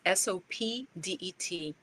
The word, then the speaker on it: Sopdet: I'm not pronouncing it right. It's Sopdet, celebrating Sirius's return in the morning sky as part of the farming season and the beginning of a new year.